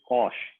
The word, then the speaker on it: Koch: तो जब ये काम कर रहे थे तो उसी वक्त जर्मनी में एक और साइंटिस्ट थे, एडवर्ड कॉश, KOCH या KOSH, दोनों स्पेलिंग उनके आते हैं।